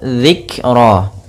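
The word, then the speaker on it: ذكرا: zikro pada lafal zikro di sini ada huruf dzal kecil jangan sampai dibaca dengan zikro tapi dia zikro.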